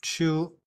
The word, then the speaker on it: 出: Oh, 我写错了，这个应该是写出，不应该是往。所以是一个之，然后那个有的时候我们可以看下面的那个，好像是一个山洞。这个字读看，它不一定是一个 cave，不一定是一个山洞，可是它有的时候是一个盒子。有的时候是一个房子，这个就是一个构建。So this character, it should be pronounced chu, which means to leave.